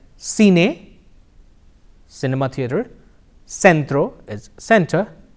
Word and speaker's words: centro: bubbles a and E in Spanish the sound is the interdental sir the C can also